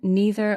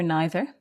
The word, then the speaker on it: neither: Again, neither or neither are both fine to say.